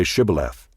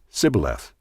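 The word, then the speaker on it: Shibboleth: they said to him then say shth and he said Sith for he could not pronounce it right then they seized him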